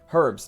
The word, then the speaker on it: herbs: like herbs and spices herbs don't aren't you supposed to pronounce the h it's like an american thing that we don't right yeah herbs we